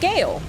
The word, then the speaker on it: Gale: Like Gale. Who rhymes with Bale.